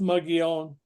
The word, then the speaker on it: Mogollon: this sort of strange looking word molone it's pronounced mugon and it is uh kind of one of